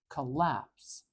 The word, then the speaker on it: collapse: can't hear it um the the syllable with the schah is never going to have the stress syllable it it's not going to it's too weak it's too featureless it can't carry the stress so we know that the a is the strong part collapse collapse collapse it's